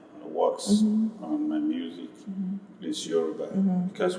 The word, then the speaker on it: Yoruba: And that's why 90% of my works on my music is Yoruba. Because when I pronounce it, I put it in the center.